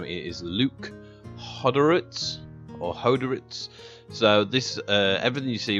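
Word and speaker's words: Hodorowicz: I have to remember how to pronounce his last name. It is Luke Hoderitz.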